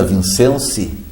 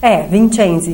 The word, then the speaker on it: Vincensi: Bom, meus amigos, estou recebendo agora Eliana Vincenzi. Italiano pronuncia diferente, né? Vincenzi. Vincenzi.